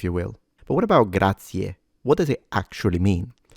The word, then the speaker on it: grazie: Make sure you don't pronounce it grazie or grazies, gracias, because that's kind of a mixture between Spanish and Italian. It is grazie.